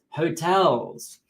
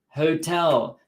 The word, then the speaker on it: hotel: We're going to stay at a hotel because in English, the H, in English, this H we pronounce in this word, hotel, not hotel.